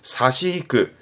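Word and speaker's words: 差し引く: 그래서 차액을 뺐다라는 의미에서 빼는, 공제하는 뜻인데 발음은 사시이크.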